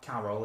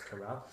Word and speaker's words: Carell: It's not Carol, it's Carell.